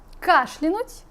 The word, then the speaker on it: кашлянуть: А последнее слово как правильно произносится? Кашлянуть, кашлянуть или кашлянуть.